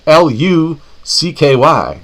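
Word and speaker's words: Hlucky: name is spelled h l u c k y John lucky me the H is silent yes like the pee and swimming pool I love like big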